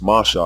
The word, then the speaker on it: Moshe: confusion as it stands his name must be pronounced masha unless one is reading the